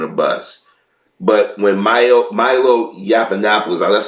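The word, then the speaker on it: Yiannopoulos: black community on a bus but when myo Milo Yap Annapolis that's how you pronounce his name came in he came in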